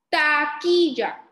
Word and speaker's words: taquilla: Recuerden que la u no se dice, solamente se dice ki. Vamos a ver. Taquilla.